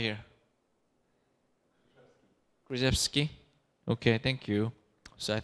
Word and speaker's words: Krzyzewski: So Coach Mike Krzyzewski, how do you pronounce? Right here. Krzyzewski.